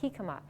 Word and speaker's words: jicama: like a jicama but it's actually a spanish name and it's pronounced jicama and it's just a